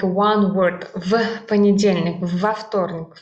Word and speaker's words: в понедельник: В понедельник. But we actually pronounce it like one word, and this в is pronounced like ф. В понедельник.